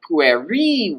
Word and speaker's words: pueri: So, for instance, in this sentence here, we would say, servi pueri vocant. The servants of the boy call. And here you see that I'm going to even stress accent also the last syllable.